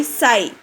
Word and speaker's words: sigh: Okay, here H is, if G comes with H means both the letters will become silent. We should pronounce S-I, sai.